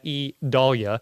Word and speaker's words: Idalia: anything and everything that has to do with idalia and yes that's how you say that E Dahlia that's e e is the pronunciation guide so e doll yeah uh for